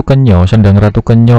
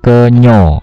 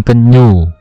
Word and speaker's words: Kenyo: Kalau di Sendang Ratu Kenyo itu berada di Wonogiri ya, Wonogiri Jawa Tengah. Sendang Ratu Kenyo, bacanya Kenyo ya, bukan Kenyu, Kenyo.